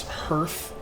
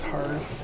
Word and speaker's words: hearth: I know it's pronounced Hearth. I know. But the thing is is that when I when I look at that word, I see the word earth with an h in front of it cuz that's how it's spelled.